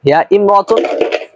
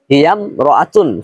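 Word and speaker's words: هي امرأة: কারণ আমরা আগে থেকেই জানি ইমরাতুন শব্দের পূর্বে যদি কোনো শব্দ আসে তাহলে আলিফটি শুধুমাত্র লেখায় আসবে, উচ্চারণে আসবে না। অর্থাৎ উচ্চারণ হবে এরকম হিয়াম রতুন ফাকিরাতুন, হিয়াম রাআতুন ফাকিরাতুন, হিয়াম রাআতুন ফাকিরাতুন।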